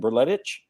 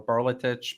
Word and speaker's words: Berletic: It could be Berletic or Berletich because it's Croatian. So they got it. I don't know. It could be either. You could do either.